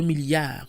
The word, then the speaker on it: milliards: We also add a silent S when writing out the word milliard if it's multiplied by a number above 1. 2 billion is 2 milliards with an S, for example.